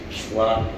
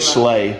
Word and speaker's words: Schley: Slock. Slock. See? Slock. That's not what you said. Slock. Slock. I said Schley. I think I said Schley.